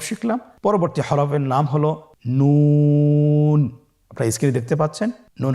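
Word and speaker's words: نون: নুন হরফটি উচ্চারণের ক্ষেত্রে অবশ্যই পাতলা করে উচ্চারণ করতে হবে এবং 3 আলিফ টেনে পড়তে হবে।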